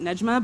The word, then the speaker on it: Nejma: This is a work called, I pronounce it Nejma, by Nayera Waheed.